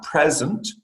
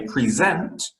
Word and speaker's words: present: So for instance, present, you're stressing the second syllable, and it is a gift. Whereas if you say present, you're stressing the first syllable, you're talking about giving a presentation for something.